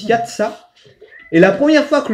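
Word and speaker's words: יצא: pays d'Égypte, en hébreu, le mot sortir, il se prononce yatsa, et la première fois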